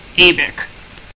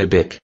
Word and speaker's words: ABIK: affect you at all, because you're gonna be ABIC. That's brilliant. But a bic. What's a bic? Yeah, that would be pronounced, ABIC, and it actually stands for something.